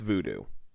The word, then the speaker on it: Vodou: How they spell it, or how it was spelled here, is VODOU. That's where I got the U from. But I believe it's still pronounced voodoo.